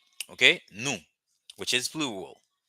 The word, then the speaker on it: nou: it is the same the difference between the two is that is is the accent the accent the uh the tonality when you're going to say that okay the tone is gonna help you okay napali it's the